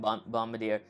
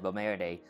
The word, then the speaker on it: Bombardier: I keep saying Bombardier, but it's actually pronounced Bombardier.